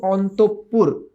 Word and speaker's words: অন্তঃপুর: ক্ষমতা আমার নাই অন্তঃপুর এটার উচ্চারণ কিন্তু অন্তঃপুর হ্যাঁ বিসর্গ এর পরে যে শব্দটা আসে সে শব্দটা দীপ্ত উচ্চারিত হয় অন্তঃপুর মনোকষ্ট এই ধরনের শব্দগুলো